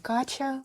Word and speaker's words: Катя: Меня зовут Кача (так произносят в Бразилии), или Катя по-русски.